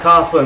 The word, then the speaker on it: Coughlin: It is pronounced Coughlin though.